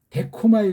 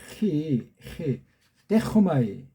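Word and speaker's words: δέχομαι: 데코마이 발음을 또 이거 그냥 뭐 어떤 사람들은 데코마이 그러죠. 데코마이 데코마이라고 하면 안 돼. 이건 카파가 아니고 히예요. 히 데코마이.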